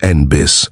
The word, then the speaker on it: NNBIS: The White House stressed that NNBIS, which insiders pronounced NBIS, was not supposed to run anything.